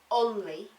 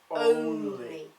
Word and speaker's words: only: So only is round. It's not only, it's only.